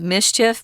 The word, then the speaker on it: MSCHF: mschf or in english we would actually just pronounce it mischief because it kind of makes that sound if you say those letters together quickly but i know tom